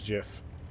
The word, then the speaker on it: GIF: I personally am a soft G guy.